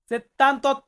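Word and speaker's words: settantotto: সাত 77 78 এই 78 এসে সাউন্ডটা চেঞ্জ হবে এই সেত্তান্তাটা সেত্তান্ত হয়ে যাবে একের ক্ষেত্রে আর আটের ক্ষেত্রে সোন্ত সেত্তান্ত্ব চেত্তান্ত্ব 78 এখানে কিন্তু সেত্তান্তা হবে না চেত্তান্ত 79 এর ক্ষেত্রে আবার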